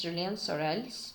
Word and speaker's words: Julien Sorel: So here, Julien Sorel, okay, in French pronunciations it's Julien Sorel's desire to shine is